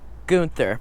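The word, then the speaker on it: Gunther: I'm I'm not going to get past this gother there we go got it it was amazing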